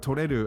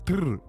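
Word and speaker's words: とれる: makes it slip up, pronouncing the word toreru as tururu.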